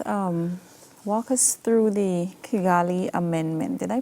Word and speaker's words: Kigali: left walk us um walk us through the kigali amendment did i pronounce that correctly yes amendment the kigali amendment